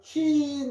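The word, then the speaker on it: keen: 큰 붙어서 퀸 하면 길게 합니다. 퀸요 퀸이라는 말은 퀸 요렇게 되는 발음 소리입니다. 그죠? 퀸 우리가 킨사이다 할 때는 킨 요렇게 퀸이죠. 짧은 퀸입니다.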